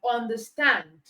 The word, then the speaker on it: understand: Okay, so we have sunglass, blackboard, but for the verb, the stress is on the second part. Okay, so we have understand, overlook. That's for nouns and for verbs.